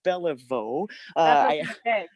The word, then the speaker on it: Belliveau: what's up uh and it's actually pronounced bellavo i just um it's